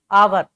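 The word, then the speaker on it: hour: जैसे मैं बात करूं आवर की, तो ये एच हमारा क्या है? साइलेंट है। ओ से स्टार्ट हो रही है, आवर।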